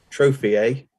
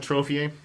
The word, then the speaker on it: trofie: But trophy, hang on, trophy, which I think is how Rob pronounced it, is the only 6.